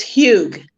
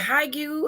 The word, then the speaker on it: Huyghue: last name for me it's huge okay not as not as difficult as it looks yeah because i was like is it high you or how do you